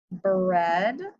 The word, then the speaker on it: bread: Same with lead, thread, bread, and breath. In all of those words, we would normally hear a long E sound because of our rule, but in these words, we have a short E sound.